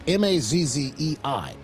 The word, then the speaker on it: Mazzei: Trump backed Mike Mazzei, I think his name is, or Mazzy, or Mazzy. I don't know how to pronounce the last name. It's Mazzei.